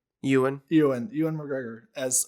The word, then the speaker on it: Ewan: strongly about this um uh oh uh uh aaron mcgregor being um did i pronounce his name right ewan you and ewan mcgregor as obi-wan and the